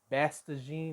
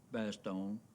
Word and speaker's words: Bastogne: I mean, bestene or something. It's not best. That has a a in it. And away we go. When we left for Baston, we were short of equip. That's how you pronounce it.